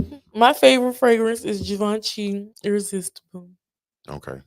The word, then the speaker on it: Givenchy: Givenchy. Da Vinci. That's how they say it.